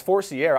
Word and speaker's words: Forcier: Tate Forcier is going to be the guy this spring. Well, especially, you know. You going Forcier or Forcier? It's Forcier.